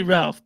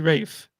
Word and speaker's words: Ralph: ra yeah yeah I in England they don't say Ralph they say Rafe which is okay so